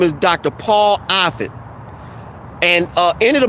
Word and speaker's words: Offit: in the stream his name is dr paul offit and uh any of the moderators feel free